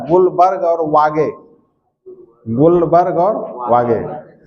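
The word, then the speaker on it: Guldberg: गोल्डबर्ग spelling देखो कैसा है। एल यहां साइलेंट है। गुलबर्ग पढ़ा जाता है।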